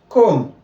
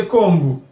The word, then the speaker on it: comb: Comb. You get? You don't say combu. Bomb.